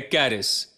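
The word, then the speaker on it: χάρις: Greek शब्द से आता है और यह है कैरिस इंग्लिश में इसकी स्पेलिंग होगी सी एच ए आर आई एस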